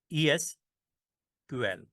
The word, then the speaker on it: SQL: में से रिक्वायर्ड है एसक्यूएल को इस तरह प्रोनाउंस करती हैं ईस क्यूएल ठीक है फॉर एग्जांपल